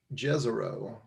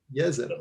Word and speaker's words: Jezero: If there's anything I took away from this, it's that it's not pronounced Jezero. It's pronounced Jezero. So now you know.